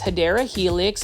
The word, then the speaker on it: Hedera helix: a beautiful Hedera helix, or what you call, the correct way to say it is Hedera helix.